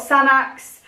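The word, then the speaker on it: Sanex: I've got Sanax, that's how you say it.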